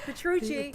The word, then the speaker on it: Petrucci: Petrucci. Did I say it right, Doctor? You got it, Petrucci. I love it. Italian, you got it.